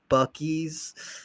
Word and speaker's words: Buc-ee's: We went to I'll say it right, Buc-ee's.